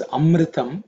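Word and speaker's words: अमृतम्: Because of Sandhi, the Akara becomes an Avagraha, silent. Okay. So, because when you chant Ritam Chamem, Ritam Chame, Ritam Chamem, Ritam Chame, that A is silent and is specified by a Avagraha, but when it's split, it's Amritam Chame.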